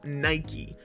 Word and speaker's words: Nike: how is it pronounced then well the proper pronunciation is in fact Nike that's no problem you're welcome wanna know where